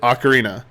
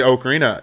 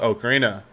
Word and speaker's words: Ocarina: okarina so here's the true story I always pronounced it Ocarina until I met someone from Nintendo and they kept saying okarina of time and I was like huh and they're like that's actually how you say okarina it's pronounced that way I was like oh